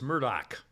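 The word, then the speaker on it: Murdaugh: by the way again the name murdog is pronounced Murdoch normally and and I'm hearing it now pronouncing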